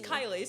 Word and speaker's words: Kylie: So people always say my name wrong. So they're like, "Are you or are you Kaye?" And I was like, "My name's Kylie." So I'm like, "Oh, I'm